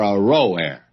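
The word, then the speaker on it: Aroer: back and give you another pronunciation of that the cities of r o a r Ro a are forsen and let's settle for a row a they are fory and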